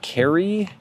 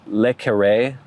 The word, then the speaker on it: le Carré: He says pronounced Carrie. I'm not exactly sure. I think it's Le Carré, maybe.